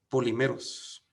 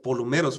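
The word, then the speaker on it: πολυμερῶς: Muchas veces es la palabra griega polimeros, aunque se pronuncia polumeros, pero se escribe polimeros y puede ser traducido como muchas porciones.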